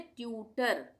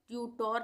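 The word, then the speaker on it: tutor: यदि किसी शब्द के अंत में ओ आर या ओ एन हो तब ओ का उच्चारण अ होगा।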